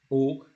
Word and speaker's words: aux: So as I said, that AUX is pronounced O, and then the CES, you have seen it, say that's the demonstrative, CES.